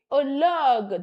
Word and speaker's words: horloge: Une horloge, that H is silent, that H is silent, the edge.